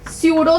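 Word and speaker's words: pseudo: व यूज कर आर सूडो solid सड सॉलिड टम यूज कर डो इ प्रस सुडो प तो नहीं बोलना प साइलेंट सूडो सॉलिड जडो सॉलिड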